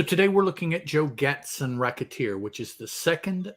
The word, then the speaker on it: Gatson: n and of course my impulse is to pronounce that Gaston Gaston because that's just easier to do but that's not the name the name is Gatson so I just let